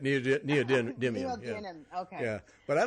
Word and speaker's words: neodymium: mag the Neil dynam how do you say that neodymium yeah whatever those well that's how you say it needs it neodymium yeah but I like